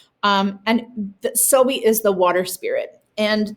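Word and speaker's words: sowei: This fiber that they wear is meant to look like sowi, it's spelled S-O-W-E-I, and it's pronounced sowi. And the sowi is the water spirit.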